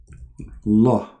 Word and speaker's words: Allah: If we pronounce the name of the God of Islam, it is like this. Al Allah. Al in Arabic today is equal to the. La is the name.